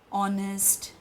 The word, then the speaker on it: honest: not barakar for example why do we say an honest man because here we pronounce it as all there is no vowel you'll say vowel is O but H is silent so the way we